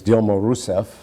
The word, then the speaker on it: Dilma Rousseff: He's going to be succeeded by the woman pictured on this campaign poster with him, whose name in an anglicized pronunciation is Dilma Rousseff, who was one of